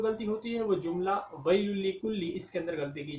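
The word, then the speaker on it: وَيْلٌ لِّكُلِّ: بڑی یا کے ساتھ، ویل لکل، حالانکہ واو کو ملانا ہے چھوٹی یا کے ساتھ، ویل لکل۔ اب دیکھیں دونوں میں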